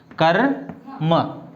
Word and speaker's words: कर्म: उच्चारण कैसे करेंगे, पहले क फिर र उसके बाद में म, कर्म, है ना.